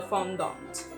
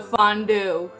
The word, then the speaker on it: fondant: 30 minutes and then apply the fondant or should I say the fondue hate when people say that I mean you know